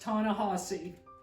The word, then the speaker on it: Ta-Nehisi: And yes, it's pronounced Ta-Nehisi.